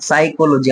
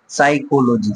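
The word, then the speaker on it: psychology: পি আছে, বাট পিটা কি হবে এখানে? সাইলেন্ট থাকবে, অর্থাৎ সাইকোলজি আমরা এটা পড়বো, ঠিক আছে? সাইকোলজি, সাইকোলজি, চারটা সিলেবাল, সাইকোলজি, পিটা সাইলেন্ট আছে।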